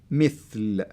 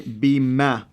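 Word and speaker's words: مثل: That's the kasra, and the kasra will help you to say it mithl. So if it wasn't there, you can say bimethal. Yeah. So so they avoid, you pronouncing it the wrong way.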